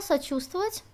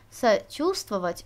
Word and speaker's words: сочувствовать: согласными вот наше слово сочувствовать чув с в вот этот корень сочувствовать вот эту в мы не произносим на этом всё больше